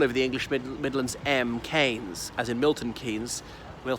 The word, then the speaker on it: Keynes: by his nephew and he said it is canes and they've been disturbing